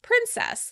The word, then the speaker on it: princess: Princess. The British pronounce the word princess. Princess.